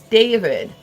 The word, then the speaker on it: DRVD: His name is, it's David, right? But it's spelled DRVDS. Or no, I'm sorry, it's DRVD. And somehow that's David, okay?